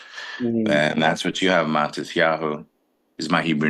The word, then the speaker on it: Matisyahu: a s so M that's where you get the matis instead of matit and that's what you have matis yahu is my Hebrew name